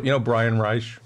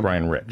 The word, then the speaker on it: Brian Reich: Brian Reich. Brian Rich. I always mispronounce his name. Yep. It's Brian Rich.